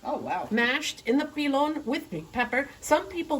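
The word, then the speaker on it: pilón: Pilon, accent on the the O, O. on the Pilon.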